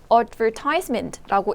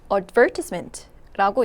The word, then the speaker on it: advertisement: 여러분 한번 읽어 보실래요 여러분은 아마 미국식 발음에 익숙하기 때문에 advertisement라고 읽으실 겁니다 근데 리스닝에서 영국에서는 advertisement라고 얘기해요 advertisement 들으면 이게 광고인가